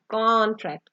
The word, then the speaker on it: contract: सो when we put stress on the first con, that is the noun, that is contract, contract मतलब कौन थोड़ा आपने लंबा करके बोलना है। And next, when we utter this word as a verb, then we will put stress on the tract।